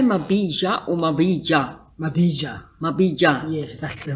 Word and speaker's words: Mabija: You never know with a J. Yeah, sometimes it's very difficult to pronounce a J. The white people don't know whether to say J or Ja. But it's better if you are saying it correctly.